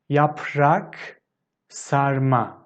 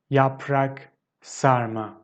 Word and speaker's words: yaprak sarma: taste of it and the next one is yaprak sarma yaprak sarma so basically it's wine leaves stuffed with rice